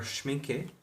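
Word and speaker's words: Schmincke: These are all gouache, and they are schminke.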